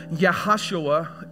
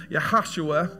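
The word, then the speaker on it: יהושע: know the word Joshua yahushua is how you pronounce it in Hebrew yahushua and that that word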